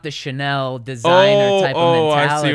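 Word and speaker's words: Chenal: leo chanel from wisconsin a linebacker uh it's chanel yeah yeah s s okay and this is the pronunciation yes in little words sha sha dash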